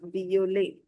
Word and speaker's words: violet: The addition to the previous list is now violet This is violet because E T at the end gives you the A sound.